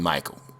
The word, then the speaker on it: Micheal: He's one of the Michaels with the E before the A in Michael. So it kind of looks like Micheal or Michelle, but it's Michael.